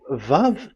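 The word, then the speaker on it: וָו: closed v in so it's v as in vog so it's really v how to read vog so the word the the the shape vavv is really pronounced vv like Vog pronunciation that is it pronunciation.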